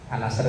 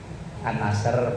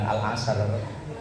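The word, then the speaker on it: النصر: An-Nasr itu bacanya gimana? An-Nasr, bukan Al-Asr.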